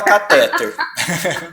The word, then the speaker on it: cateter: uma oxítona tá bom cateter fechado Mas você não vai ver ninguém falando que até tá todo mundo fala cateter Tá bom mas agora você sabe que é cateter é igual o prêmio